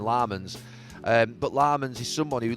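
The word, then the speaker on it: Lammens: I say Lemons and they call him Lamans.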